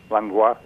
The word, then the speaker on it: Langlois: How do you pronounce your last name? Langlois. Ah, you do. Mm-hmm. So those of us who have been saying it wrong all this time. No, I'm the last one. People will correct me and say, no, you mean Langlois.